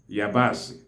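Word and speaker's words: yabaasị: The onions are called yabasi. Yabasi. Yabasi is spelled as E-I-A-B-A-S-I.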